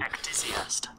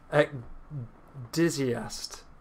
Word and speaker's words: ecdysiast: Ecdysiast. It's pronounced like that. Did you hear that? I did. Okay. I hope our viewers at home heard it. I don't know if they will. Ecdysiast.